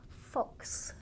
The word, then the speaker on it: fox: only three letters but that X on the end actually makes two sounds X it's it's an